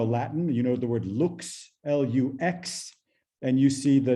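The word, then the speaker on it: lux: if you know latin you know the word looks l-u-x and you see the direct or indirect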